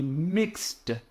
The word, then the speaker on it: mixed: mixes his coffee he mixed his coffee if you don't pronounce that D it's very easy to miscommunicate right and then we